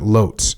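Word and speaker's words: Łódź: regular regularly stay late at the headquarters at loes am I saying that right Lots Yes W but lots yeah that's how you pronounce it uh not now that I was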